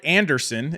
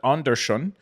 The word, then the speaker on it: Andersson: I didn't want to go Anderson is how we would pronounce it, but Andersson is what I was going for.